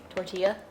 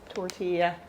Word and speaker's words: tortilla: Tortilla? Tortilla. Gus? Tortilla, technically. Tortilla. Storm. It is tortilla. That's how you pronounce See, it.